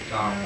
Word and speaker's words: Tao: How do you pronounce it? Tao.